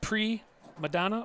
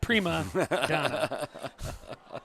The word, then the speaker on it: primadonna: sport how was that pre Madonna or primadana how do you say that Doug I go Primadonna so you speak Italiano